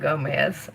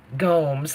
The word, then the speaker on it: Gomes: Not Gomez. I always say it wrong. Gomes, like Holmes.